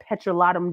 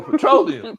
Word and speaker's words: petroleum: As the British as the British say, I also have petrolotum jelly or grease. Vaseline. Petrolotum jelly. Petrolotum. Petrolot. Oh, petroleum.